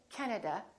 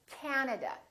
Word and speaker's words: Canada: and also three A's this time the first syllable is stressed this time this act is really long so don't say Canada say Canada Canada so you need to